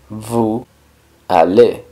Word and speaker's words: vous allez: Pero en este caso, la S de vous se junta con la A y se pronuncia vous allez. El sonido que da ahí la S es un sonido z.